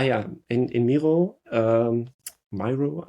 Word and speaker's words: Miro: Oh yeah, in in Miro um Myro I'm never never sure how you would pronounce it. I guess Miro because it's uh I guess named after the artist.